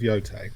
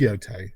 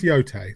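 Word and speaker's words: Yōtei: Ghost of Yote. It is Yote. I I kept saying Yot. I'm not sure it is. Oh, it's it is Yote. That's how she pronounces it in the game.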